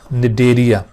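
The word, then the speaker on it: Cnidaria: सी silent होगा यहाँ पर, निडेरिया, या फिर इसको सिलेंट्रेटा फाइलम भी कहा जाता है।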